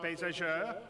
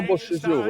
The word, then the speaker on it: Beauséjour: Did I say it right, Benoit? No. Yeah, okay, good. Didn't say it right. He God didn't. damn it. Benoit Beauséjour, right? Benoit Beauséjour. So let's have a great show. Beauséjour, yeah.